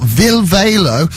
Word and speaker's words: Ville Valo: johnny doom and i've got vil valo uh and midge do you is that how you say it that's exactly how you